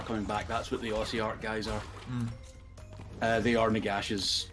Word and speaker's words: Ossiarch: Is that how you're supposed to pronounce it, Ossiarch?